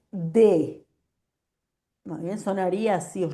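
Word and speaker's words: des: Obviamente la S no suena, entonces va a ser D.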